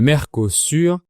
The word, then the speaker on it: Mercosur: Le Mercosur, je le prononce à la française, se traduit par marché commun du Sud.